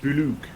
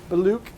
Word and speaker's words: Bollocks: No Bollocks. It's pronounced Boulouk. It's Boulouk. French. Balouk. It's Boulouk.